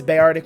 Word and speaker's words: Beartic: this pokemon's name but in my eyes it's bayardic which you'll notice the name of the team i emphasize the bay i know it's spelt b-e-a but this is how